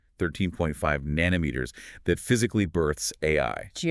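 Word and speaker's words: 愛: Pronounced exactly like the abbreviation for artificial intelligence.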